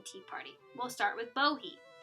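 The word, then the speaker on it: Bohea: party we'll start with bohe this was named in mostly in part due to the english mispronunciation of the wu yi mountain region where the tea comes from most of the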